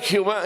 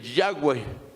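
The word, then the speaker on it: Yahweh: existe en el original tomaron las cuatro palabras del tetragramatón e incrustaron las vocales de Adonai señor para que tuviera una pronunciación como yo vaya y así la pusieron pero no es revelado por el Eterno el Eterno revela el nombre yaguay y Jehová es una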